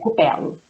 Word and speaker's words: Cupello: É Cupelo.